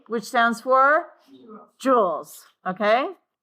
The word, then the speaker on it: joule: It is spelled Joule.